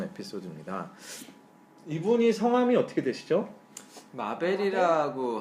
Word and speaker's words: 마벨: 마벨이라고 하시는데 네. 어렵습니다. 되게 어렵습니다. MABLLE예요. 배를 길게 발음하면 되겠네요.